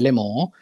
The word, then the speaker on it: Lemò: molto legato e che vuol dire le parole in francese le mo e che la cui pronuncia appunto richiama è molto verosimile come